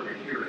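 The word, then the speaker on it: Mahurin: Walker McKieran is his name.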